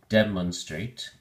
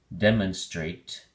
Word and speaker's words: demonstrate: week six quarter three three syllables the emphasis is on the first syllable so we say demonstrate demonstrate make sure you pronounce the final t e in straight demonstrate it is a verb